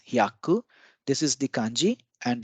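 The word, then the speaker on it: 百: Hi plus ya becomes hya. This is again a blended sound, and this is ku. So 100 is hyaku.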